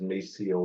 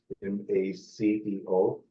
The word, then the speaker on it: Maceo: My name is Maceo, Maceo. I always have to spell it out.